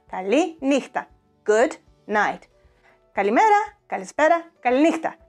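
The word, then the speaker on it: καληνύχτα: Kaliníchta, Kaliníchta.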